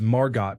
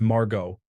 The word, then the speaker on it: Margot: Once Jean Harlow introduced Margot Asquith to someone but intentionally mispronounced her name as Margot instead of Margot. Asquith replied, no, dear. The T is silent, as in Harlow.